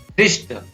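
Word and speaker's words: wrist: Next है रिस्ट, W silent हो गया, RIST, रिस्ट।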